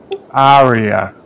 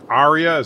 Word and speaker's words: Arya: please you learned to say her name right Arya Arya size it george RR martin kill everyone why